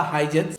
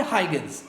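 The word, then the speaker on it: Huygens: इन्हीं के कंटेम्पररी में एक और साइंटिस्ट आए थे जिनका नाम था हाइजेंस या फिर हाइगन्स, जो भी आप प्रोनाउंसिएट करना चाहते हो वो कर सकते हैं।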